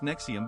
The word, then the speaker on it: NXIVM: Nxivm, pronounced Nexium, began in 1998 as Executive Success Programs, a self-improvement company based in Albany, New York.